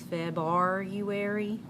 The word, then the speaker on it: February: A lot of people say it's that R right there that messes them up by pronouncing it. And to help remember that R is there, some people will even pronounce it as February, because you can hear the U.